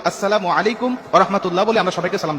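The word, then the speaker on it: السلام عليكم: আবার অনেকে বলি সালামু আলাইকুম। মানে আল্লাহর গজব তোমার উপর পতিত হোক। বিভিন্ন রকম অর্থ বিকৃতি করে আজকে আমরা সালাম মানুষকে দিচ্ছি। দেওয়ার কারণে আজকে আমরা সালাম ফলাফল গুলো পাচ্ছি না। এজন্য কখনো আমরা এইভাবে সালাম দেবো না। সালামের উচ্চারণটা আমরা সঠিকভাবে দেব।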